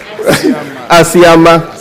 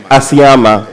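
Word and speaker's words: Asiama: Let me pronounce Ayama. The English confused me. I'm sorry. Ayama. Ayama.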